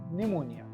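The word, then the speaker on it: pneumonia: वास suffering from निमोनिया क्या पढ़ेंगे इसे हम निमोनिया इसकी स्पेलिंग शुरू होती है पी से जॉन स निमोनिया से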